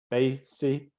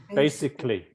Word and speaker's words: basically: Basically. Four syllables. Basically. Basically. Yeah. If in fact it reduces to three.